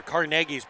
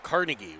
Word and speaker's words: Carnegie: Or as they say in Pittsburgh, or Carnegie's Carnegie would be in New York. Mm-hmm. The Carnegie. Carnegie here in Pittsburgh. Same person, 2 different pronunciations.